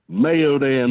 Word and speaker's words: Mayodan: from Mayodan, North Carolina. Mayodan. Is he trying to say Maiden?